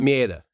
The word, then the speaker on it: Maeda: Mieta. Mieta? Oh, Yeah. you got it with a little accent. You say it the right way. I'm like Maeda, right?